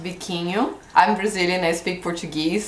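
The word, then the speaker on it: biquinho: those and then have the bikin pepper it's pronounced bikin I'm Brazilian I speak Portuguese so in our language is bikin that's how you say the name of this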